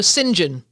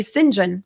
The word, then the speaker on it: St. John: Yeah, that was funny that because I I'm often because in in in England sometimes the st is pronounced sin. Yes. So singen.